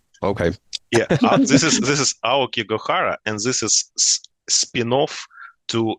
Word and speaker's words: Aokigahara: I'm not sure how to pronounce the name of the EP. It's Oh, we can calculate. Aokigahara. Okay. Yeah, this is Aoki Gohara, and this is spin-off to existing songs that